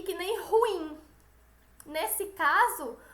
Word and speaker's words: ruim: E que nem ruim. Nesse caso, o acento tônico está como se fosse no I. Ruim, não é ruim.